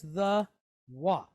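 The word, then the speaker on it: Waw: So the letter I'm talking about is the Wa. Okay? The Wa. Some people pronounce it Vav.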